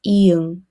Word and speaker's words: 이응: Next is 이응. This letter is silent at the beginning of a word, but when it's in the final consonant position, it makes the 응 sound.